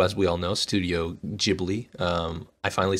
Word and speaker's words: Ghibli: we all know studio ghibli um i finally said it correctly i can't believe it you just said ghibli i can't believe it anyway studio ghibli uh h is silent apparently uh actually what did i